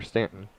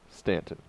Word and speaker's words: Staunton: so you're saying that people can see how it's spelled in Tennessee and know that it's Stanton whereas people see Stanton Virginia and think it's pronounced Staunton yeah you in there